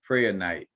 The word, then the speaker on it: Prehnite: Per night, you know, some people I might be kind of catching the H too strongly.